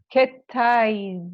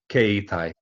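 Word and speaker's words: 携帯: Let's just get this pronunciation of mobile phone correct though. Keitai. Keitai. Okay, yeah. keitai. Yeah, I've got a feeling ketai is a rude word in Japanese.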